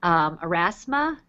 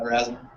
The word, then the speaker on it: Erasmus: Well, one of the things that I really want to learn how to do is Erasma. Is that how you pronounce it? Yeah, Erasmus.